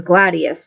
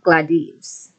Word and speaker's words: Gladius: sword glad gladies or Gladius so we would the way they pronounced it was Gladius not gladies the so the V